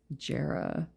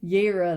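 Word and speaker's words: Jera: Oh, see, I already messed up. Yera, that's what they're I speak German. I should know that. Yera. Okay, makes sense. Yra, cuz the J's make a Y sound.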